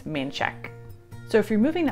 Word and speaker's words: Manchaca: This looks like it's a really fun word to say, Mancheca. It looks awesome, but in Austin, no, it's Manchek.